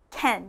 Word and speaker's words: can: now this one actually sounds like a man's name ken ken you'll notice it sounds more like an e than it does an a again practice with me